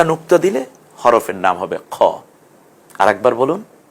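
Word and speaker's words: خاء: হয়েছে উপরে একটা নুক্তা দিলে হরফের নাম হবে খ আরেকবার বলুন খ সুন্দর করে বলুন সবাই বলুন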